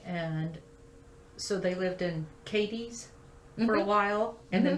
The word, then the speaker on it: Cadiz: pronounced different there okay in western kentucky it's katie's cads spell the same but it's not cadiz like in spain so why why did